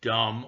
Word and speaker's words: dumb: the word itself because you don't pronounce the word dumb with the B it's just dumb D or Dum uh